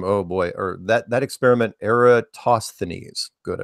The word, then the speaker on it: Eratosthenes: And that's the thinking from, oh boy, or that experiment, Eratosthenes. Good, I pronounced it right. Eratosthenes.